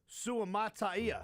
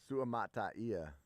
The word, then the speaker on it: Suamataia: I believe with names like that, you just the biggest thing to remember is to pronounce all of the vowels. You know? Suamataia. Hmm? Is that it? Yeah. Suamataia. Because there's that A-I-A at the end.